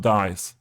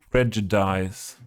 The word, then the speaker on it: prejudice: But Toby, a German pronunciation version of the word is it's this, not dice. Prejudice. So I was nearly, I think if I say dice, it's nearly correct.